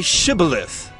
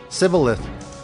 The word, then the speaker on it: Shibboleth: They said to him, "Then say Shibboleth." And he said, Sibboleth. For he could not pronounce it right.